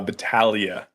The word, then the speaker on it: Battaglia: okay is is it how do you say your last name bajia bagia uh battalia do you sound okay battalia so Joseph Balia right